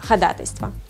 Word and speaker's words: ходатайство: да у нас бы поэтому правильно будет конечно ходатайство если у судей услышать ходатайство знаете что это их сленг пусть говорят как хотят а мы будем говорить правильно как словаре указано еще одно слово самое